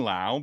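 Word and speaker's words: Lowe: So, when I do the recap and I put it in there, I put low in parenthesis for Josh Low and then I put now for Brandon Laauo because it rhymes with now.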